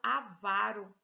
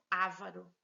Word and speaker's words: avaro: filantropo e não filantropo é o correto é falar avaro e não avaro o correto é falar